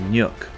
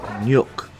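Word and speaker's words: Nhat: and is spelled and is pronounced nyuk.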